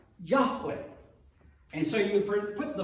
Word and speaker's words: Yahweh: of which is that there's no J sound in Hebrew which makes it doubly